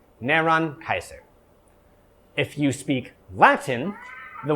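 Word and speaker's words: Νέρων Καῖσαρ: So this is how you say Nero's name in Greek. Neron Kaiser.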